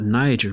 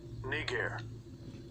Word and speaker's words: Niger: word right here man it's not niger man it's actually pronounced all right so i'm prove it strong's g3526 kneecare kneecare all right which means